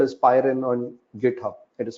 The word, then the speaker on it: Pywren: If you're interested in that, have a look at something called as Pyren on GitHub. It is spelled as Pywren, right?